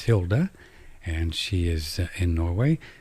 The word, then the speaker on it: Hilde: It's spelled Hilde Larsen, but it's Hilde, and she is in Norway.